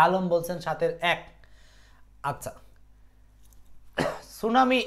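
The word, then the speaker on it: tsunami: বলছেন সাতের এক আচ্ছা সুনামি এইটা অনেকেরই মুখস্ত আছে যে সুনা আর হলো মি এটার সামনে একটা টি আছে যে টিটা আসলে সাইলেন্ট থাকে সাইলেন্ট থাকে সো এটার জন্য একটা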